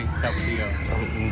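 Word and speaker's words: Tapatío: I say tapatio.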